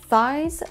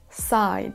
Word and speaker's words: sides: sides donc là attention le mot sides c'est vraiment un son s on n' pas à faire de son tiage donc ce n'est pas size mais sides pour vous prouver que